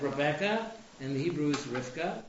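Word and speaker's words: רבקה: later we have Rebecca and the Hebrew is Rifka right should I be reading the Hebrew pronunciation or the what it says in the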